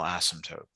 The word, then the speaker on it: asymptote: is the horizontal asymptote. Okay, so then if So I you was actually, asked like what the xanatote, is that how you say it?